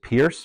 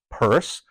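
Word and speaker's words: Peirce: thought you pronounced it Pierce but I've um found out that in fact it was he would have pronounced it Cyrus purse who was a uh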